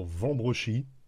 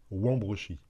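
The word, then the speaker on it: Wambrechies: m comme capingem verlingem de même pour la prononciation du W on entend souvent les Lillois dire vambrochi pour wambrochi dans le Boulonnais en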